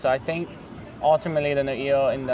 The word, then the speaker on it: Noio: Everyone I've talked to, which maybe, I don't know, the correct pronunciation is Noio. As far as like, everyone who's like fluent Hawaiian that I've talked to has said Noio.